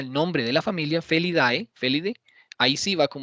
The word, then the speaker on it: Felidae: Que se pronuncia Felidae, entonces va en mayúscula.